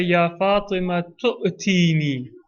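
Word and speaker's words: يا فاطمة ائتيني: al-Kisa, the Prophet says, Ya Fatimatu, itini. That's the feminine. Itini, to me. Bil Kisa il-Yamani, bring me the Yemeni cloak. If you wanted to connect it, you would say, Ya Fatima tu'tini.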